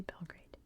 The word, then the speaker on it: Belgrade: we say in America I know it's not pronounced that like literally anywhere else in the world maybe like Australia but we say Belgrade 1456 the failure of